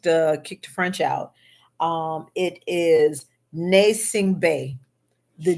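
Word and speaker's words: Gnassingbé: It is Nasing Bay. The G, it starts with a G, but the G is silent.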